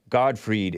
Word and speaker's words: Gottfried: residual effects you know god freed is how it's pronounced don't talk crap about